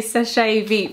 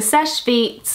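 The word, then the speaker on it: Seche Vite: how do you say is it sesh beet I always I say SES I used to say SES vet for some reason but the sesh vet um dry fast top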